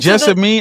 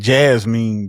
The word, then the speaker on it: Jessamine: What happened to Jessamine? I was saying Jasmine. Jazz." Her name is spelled J E S A M. So I thought it was Jessine.